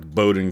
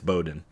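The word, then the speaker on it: Bowdoin: Yeah, see the AI can't pronounce things like Bowden College. It's it's spelled like Bodoin, but it's Bowden.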